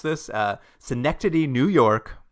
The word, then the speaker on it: Schenectady: And where we see him is he suddenly appears on a street corner in, I'm going to try to pronounce this, Schenectady, New York. Schenectady.